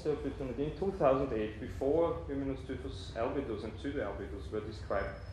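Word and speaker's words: Hymenoscyphus: And if you look here, I had once the opportunity in 2008, before Hymenoscyphos albidus and pseudoalbidus were described, I found it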